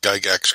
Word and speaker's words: Gygax: And don't worry, John, you pronounced Gygax correctly.